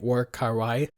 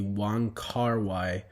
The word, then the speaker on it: Wong Kar-wai: I hope I'm pronouncing that right, War Kar-wai. Quick update, as I've been editing this, it's not at all War Kar-wai, it's actually Wong Kar-wai.